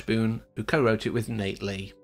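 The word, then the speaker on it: Knate Lee: who co-wrote it with Nate Lee I'm assuming the K is silent anyway it stars blue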